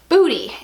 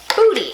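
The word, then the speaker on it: Boody: clothing by the brand Booty. It's actually spelled B-O-O-D-Y, but it's pronounced Booty.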